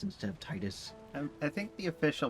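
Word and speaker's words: Tidus: Titus, like tidal wave, tide.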